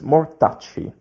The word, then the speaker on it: mortacci: But you have CCI without the H in the middle. So it's mortacci, soft sound, mortacci tua.